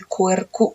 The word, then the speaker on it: Albuquerque: Querque namanya, Querque tapi Quercu kita bacanya ya.